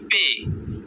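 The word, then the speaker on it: پ: পে, 1 নম্বরে পে, বার মতো লম্বা টান, নিচে 3 নুক্তা, এটার নাম হচ্ছে পে, আমরা বারবার উচ্চারণ করব পে।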